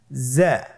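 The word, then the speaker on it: زاي: উচ্চারণ করার সময় অবশ্যই এক আলিফ টেনে পড়তে হবে, এক আলিফ টেনে পড়তে হবে। হরফটি বারিক হরফ, এই জন্যে পাতলা করে উচ্চারণ করতে হবে।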